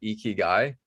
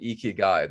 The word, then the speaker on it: ikigai: you may have heard of the concept called ikigai before um it's a it's a japanese concept